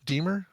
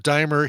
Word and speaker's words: Deimer: Deimer. I think if it's German, you pronounce I, so it'd be Kurt Deimer. Like Daimler Chrysler, kind of like that.